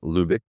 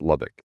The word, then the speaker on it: Lubbock: it's called Welcome to Fabulous Fruits of Doom Lubeck. And it's fun if you're in Texas and you go to the town of the same name. It's pronounced Lubbock.